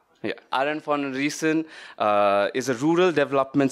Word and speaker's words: Arend van Riessen: scientist and she's the founder of feather Library Aaron Von reason I think I pronounced your name right yeah Aaron for reason uh is a rural development specialist who came